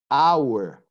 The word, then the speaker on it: hour: There are many words in English that, in spite of starting with the letter H, the H is silent, it's not pronounced. Like honor, like hour, air, honest man.